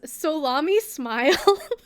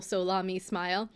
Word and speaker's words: SoLaMi Smile: I was like, it's Salami Smile. Salami. Salami Smile. But the Solami is the beginning of each of their names. So, like the first syllable, Solami Smile.